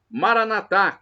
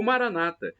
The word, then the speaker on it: Maranatha: aramaico dialeto de Jesus eu clamo Maranatha como dizemos nós católicos com a tônica na última sílaba o Maranata como dizem nossos irmãos separados os evangélicos ou protestantes com a tônica na penúltima sílaba isso não importa porque